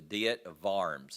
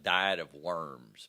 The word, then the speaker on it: Diet of Worms: At the Diet of Worms, it was called. It spelled out, it looks like diet of worms, but it's pronounced Diet of Worms.